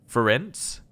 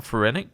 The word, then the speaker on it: Ferenc: Apparently I meant to say it like the end of circumference, so it'd be Ferenc. I'm going to call him Ferenic just because we've been